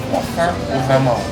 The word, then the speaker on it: croissant aux amandes: Croissant aux amandes.